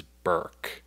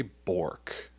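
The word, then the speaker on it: Bourke: the prevailing way is burke as in like jerk right and there is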